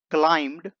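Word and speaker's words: climb: तो सबसे पहले subject he क्लाइम्ड up there. He क्लाइम्ड up there, इसे पढ़ते हैं क्लाइम। इसमें बी साइलेंट है, तो यहां पर हो जाएगा ही क्लाइम्ड अप देयर।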